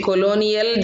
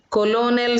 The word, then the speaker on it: Colonel: Some are pronouncing in a wrong way. Colonial they are saying. You should not say like that. Colonel Sanders.